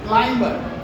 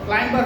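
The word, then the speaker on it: climber: অর্থাৎ এখানে কিছু শব্দ দেখতে পাচ্ছি, দুইটা শব্দ দেখতে পাচ্ছি ক্লাইম্বার, ক্লাইম্বার হবে না, বি এর উচ্চারণটা সাইলেন্ট থাকবে, উচ্চারণটা কি হবে? ক্লাইম্বার।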